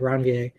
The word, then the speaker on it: Ranvier: The name that's associated with that, Ranvier, is a dead white guy name, French guy actually, so it has that weird kind of pronunciation to it.